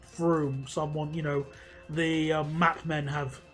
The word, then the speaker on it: Frome: When I was younger, I used to pronounce it Frome, but it is Froome.